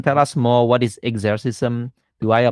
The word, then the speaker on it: Exercism: Maybe you can tell us more, what is Exercism? Do I pronounce it correctly? And what is that platform actually? Sure. You pronounce it fine. So I would say Exercism.